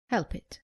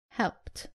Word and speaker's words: helped: Common mistake, saying help it. It is helped.